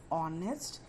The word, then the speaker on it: honest: But for words like honor, honest, and are, where the letter H is silent, we use an.